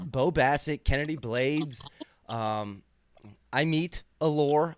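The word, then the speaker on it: Amit: Basset Kennedy blades um I meet aore I meet say it right folks learn how to say it I meet okay I redeem myself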